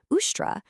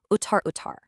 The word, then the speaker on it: ushtra: Now, instead of using the proper, pure Sanskrit word for camel, ushtra, the uneducated Kalidasa just blurted out a heavily mispronounced uttar.